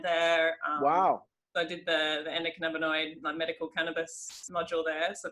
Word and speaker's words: endocannabinoid: Doc Goodman's next book has got a big part about the, am I saying it right, endocannabinoid system?